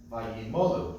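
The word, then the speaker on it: וַיָּמֹלוּ: A couple of words where the accents on the second to last syllable. That's a good thing there. Vayimolu. Just a reminder, here we have a double pashta.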